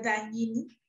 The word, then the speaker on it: Dagnini: Respecto al apellido, se debe de pronunciar Daguinini, pero mi papá nos acostumbró a que lo pronunciáramos Daguinini, como se escribe, para que no tengamos problemas en la escuela, y así lo pronuncio, Daguinini.